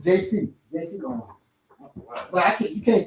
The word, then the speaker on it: JC Owens: as far as Jesse Owens was really known as JC, white folks mispronounced it and just kept it, renamed it. His name is JC Owens. We call him Jesse Owens.